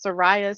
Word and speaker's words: Saraya: Um that's not how you pronounce her name. It's not Saraya, it's Saraya Saber, and Vivian Cross.